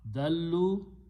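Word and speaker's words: ضلوا: So dal, dal, lam, dallu, they went away, they departed. So two lams will be written with a shadda and wow is a plural and a alif is written which is not pronounced.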